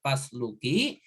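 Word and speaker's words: فاسلكي: Maka ini juga usluki itu atau pasluki, kalau disambung dengan fa maka dibacanya pasluki, tapi kalau fa-nya dipisah bacanya usluki, maka ini juga fi'il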